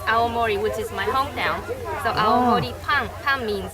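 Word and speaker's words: 青森: blue and this character means Forest which it's pronounced aomori which is my hometown means bread so our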